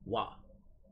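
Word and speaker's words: は: after a noun in you type or write in the war particle hop but instead of pronouncing it as such you go as wha here's an example but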